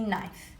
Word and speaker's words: knife: In knife, the kicking k is silent. We don't say knife, we say knife.